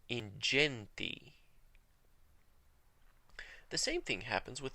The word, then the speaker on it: ingenti: But in the ecclesiastical pronunciation, whenever G is followed by an E, an I, or even a Y, it's pronounced J, the soft G. We see that again in ingenti.